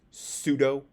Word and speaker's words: pseudo: uh more this remember if you have a PS then you say the S so it's pseudo um this is also